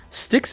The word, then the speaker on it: Styx: is sticks and stones sticks is spelled like the band sticks so I'm going to